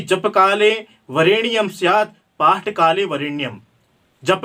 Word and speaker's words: वरेण्यम: अगर आप जप कर रहे हैं तो आपको उस समय उस ढकार का आधा प्रयोग करना है, लेकिन आप पाठ कर रहे हैं तो वरेण्यम, उस ढकार को ऋणी पूरा उच्चारण करना है। अगर आप उस ढकार को पूरा उच्चारण करेंगे तो 24 वर्ण ना होकर के वह 25 वर्ण हो जाएगा।